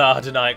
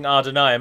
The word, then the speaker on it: Adûnâim: poor way I'm pronouncing Adûnâim, a lot of you think that it's spelled A-R-D, but it isn't. It's just pronounced as if it's A-R, like father. The word father.